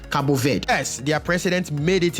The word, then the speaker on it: Cabo Verde: you speak Portuguese and she said it is pronounced Cabo Verde yes their president made it into the country